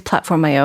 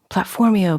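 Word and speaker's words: PlatformIO: org platform Yoda I keep people say it's platform IO and I know that's how they pronounce it but I always think of platform you sort of like mercutio platform EO platform eeeh she experienced something or another yeah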